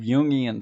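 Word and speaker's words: Jungian: get right into this Yan personalities the Yan perspective yian spelled j u n g i a n Carl yung's perspective okay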